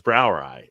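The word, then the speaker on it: Brauerei: I think EI but his Brower ey is how it's pronounced which is basically for Brewery but that throws off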